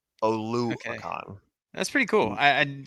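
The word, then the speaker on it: Oluokun: Oluwakan.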